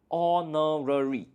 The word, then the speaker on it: honorary: So you can see that H is a consonant, but when you pronounce this word, honorary, it sounds like the first letter is a O.